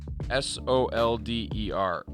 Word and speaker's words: solder: uh s o s s o l d e r it's not pronounced the way it's spelled no clean lead-free solder paste